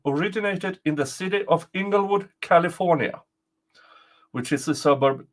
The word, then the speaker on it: Inglewood: in the city of Inglewood, California, which is a suburb to Los Angeles. The I is pronounced with a long sound, not a short. It's the long letter I.